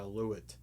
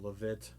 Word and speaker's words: Lewitt: the mtp 440 by lewitt or levitt depending upon how you want to pronounce it i really like those